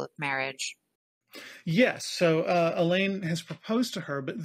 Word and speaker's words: Alain: marry this young man elain Alain elain Allen however you want to pronounce it yeah we would say Alan but it's Frenchie so we say Elaine and so right so